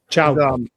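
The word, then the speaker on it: Thiaw: I looked at Malik Chaw's Malik Shaw. I pronounce it Malik Shaw. Chao.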